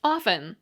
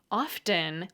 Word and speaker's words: often: Authority told me that the way to pronounce often was often like off with a little syllabic n at the end often was like soften listen and glisten I was warned with a silent T I was young and impressionable and the t-less pronunciation stuck with me later I learned that the pronunciation with the T often was completely acceptable the preference I had